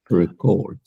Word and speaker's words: record: right do something then the pronunciation changes it becomes record record so for example this